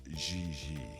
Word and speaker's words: JJ: JJ. En français, you pronounce G like J and J like G. She may very well be JJ in America, but in France, she is Gigi.